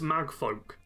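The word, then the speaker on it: Magfolk: yeah the cuz it it looks like it shouldn't be such a simple name to pronounce but it's mag folk yeah and that's it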